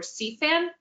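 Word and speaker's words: SEAFAN: southeast florida action network it's spelled s-e-a-f-a-n or c-fan that's our dep citizen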